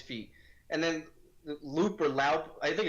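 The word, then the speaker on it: Loup: And then Loop or Laup, I think it's Loop, right? They pronounce it Loop.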